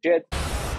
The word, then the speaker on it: Djed: Just in terms of terminology, Djed, and that's the proper way to pronounce it. Djed, the DSL, comes from ancient Egyptian as a sign of stability.